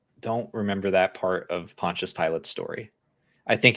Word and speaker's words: Pontius Pilate: Pontius Pilate. Pontius Pilate.